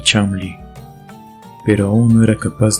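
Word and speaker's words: Cholmondeley: su casa de Florida era chol meley pero se pronunciaba chamli pero aún no era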